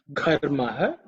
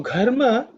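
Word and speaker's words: घर्म: In this mantra, Gha, in terms of pronunciation, you have to pay attention to the first letter in the mantra, which is Gha, which is the fourth letter in the Ka Varga. It's an aspirated consonant, so you have to say it with a bit of emphasis, with a lot of air.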